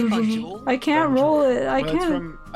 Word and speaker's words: Banjul: Banjul. I rolled my tongue and pronounced it. You have to roll your tongue to say Banjul.